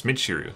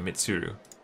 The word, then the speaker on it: Michiru: It's Michiru, not Mitsuru.